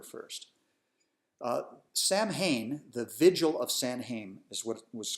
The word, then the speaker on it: Samhain: Samhain the vigil of San Haim is what was called Osama we as they excuse me as they probably pronounced it back then the vigil of Sam we was celebrated on a